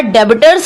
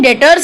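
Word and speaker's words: debtors: और डेबिटर्स होते हैं, डेटर्स इनको बोलते हैं, प्रोनाउंसिएशन डेटर्स है।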